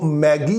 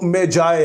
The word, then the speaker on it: magi: और इस लफ्ज की जो ब्रिटिश प्रोनंसिएशन है वो मैगी है और जो अमेरिकन इसकी प्रोनाउंसिएशन है वो मेजाय है।